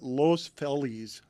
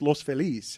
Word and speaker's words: Los Feliz: Everyone there calls it Los Feliz. And I'm like, it's Los Feliz.